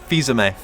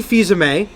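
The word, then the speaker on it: Fils-Aimé: you pronounce his surname it's Reggie by Sammy feyza may feyza may reggie fils-aime a is going to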